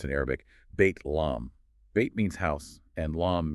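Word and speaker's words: بيت لحم: And the last one Bethlehem or as it's pronounced in Arabic bait lom.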